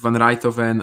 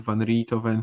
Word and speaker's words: Van Rijthoven: Like Van Rijthoven, I was saying Van Riethoven for a long while, for example.